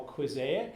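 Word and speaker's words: Quizaic: this app I call quic it's pronounced like Mosaic weird name but I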